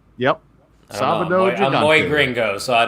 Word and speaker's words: Sábado Gigante: Did I pronounce that right? Yep. Sábado Gigante.